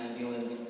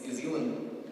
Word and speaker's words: New Zealand: I didn't realize my entire life I was mispronouncing the name of this country. It's not New Zealand, it's New Zealand.